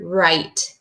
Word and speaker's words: right: And then same with the word right. Can you guess what you can't hear? That's right, the GH. I hear the I, t.